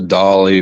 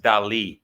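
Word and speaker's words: Dalí: Dolly I think yeah my dad has a dolly which I'm super jealous of but it was killing me because I couldn't think of the name by the way it's it's pronounced Del guys that's that's why there's an accent on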